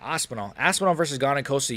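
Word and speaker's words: Aspinall: Um, Ospelon versus Why did I say his name like that? Aspenol.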